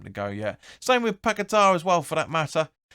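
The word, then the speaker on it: Paquetá: taking off lanzini for pakita as you're supposed to be pronouncing it or the paquetta that we've been pronouncing it uh lanzini came off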